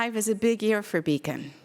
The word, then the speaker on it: BCAN: So the name of our organization, the Bladder Cancer Advocacy Network, BC AN, is pronounced beacon like a beacon of hope, a beacon of light.